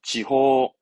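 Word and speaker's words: 地方: 지호, 지호, 지호, 방침. 어떤 방침을 세울 때 방침입니다. 침 발음은 신가요?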